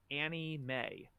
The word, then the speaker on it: anime: had to put in parentheses anime parentheses pronounced Annie May because PD would get